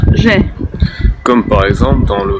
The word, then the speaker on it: Ж: Alors maintenant on va voir le je, qui se prononce Ж.